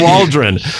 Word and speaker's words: Waldron: And this remember it rhymes with Cauldron. Shane Waldron.